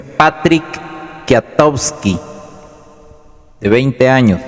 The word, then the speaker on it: Kwiatkowski: de 24 años, el cabo Patrick Kwiatkowski, se pronuncia Patrick Kwiatkowski, de 20 años, y el cabo Gregory Weber.